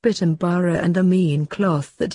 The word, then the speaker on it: Pitambar: and am Barra cloth combined by way of sand are pronounced Pitambar and the mean cloth